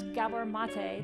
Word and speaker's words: Gabor Maté: Enneagram good for you if you can pronounce Gabbar Matta the right way you know that's two